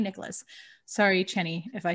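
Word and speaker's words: Chani: follow an astrologer named johnny nicholas channy nicholas it's like annie yeah channy nicholas sorry cheney if i said your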